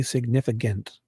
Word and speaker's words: significant: youngest I can remember, when I see the word significant, I want to say significant. Significant. Maybe it's because you say it so many times, you get lazy and mispronounce it. And significant, I have to. When I see that word, I'm like, in my back of my head, I'm like, dude, pronounce that damn C.